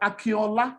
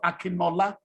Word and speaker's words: Akinola: you actually lose them when you speak like akiola instead of akinola yeah no newscaster has